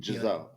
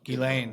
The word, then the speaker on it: Ghislaine: How do you pronounce her name? Giselle. Ghislaine.